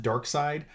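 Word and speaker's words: Darkseid: 1,870 is dark side it looks like seed but as Yellow Lantern you pronounce it dark side um so he's there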